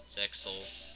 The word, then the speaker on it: Zexal: don't know much about Zexal. Turns out you don't pronounce it Zeal like a friend of mine said.